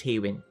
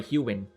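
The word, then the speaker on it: Hewynn: and replace the most it's hwin huin sorry huin I need to pronounce that correctly huin um huin is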